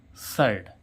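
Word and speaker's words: shirt: तो इसको क्या पढ़ेंगे एस एच आई आर टी सर्ट ठीक है अब देखते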